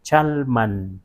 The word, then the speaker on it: Chalma: Y también tenemos un lugar que se llama Chalma, bueno, en castellanizado Chalma, pero allá no se dice Chalma, sino Chalman, porque man indica lugar.